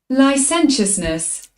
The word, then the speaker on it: licentiousness: Let's see how it's pronounced. Licentiousness.